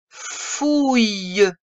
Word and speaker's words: fouille: Une fouille. C'est le ouï de grenouille.